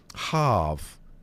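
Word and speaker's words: haf: Hav in Welsh. H AF means sun and it's pronounced hav.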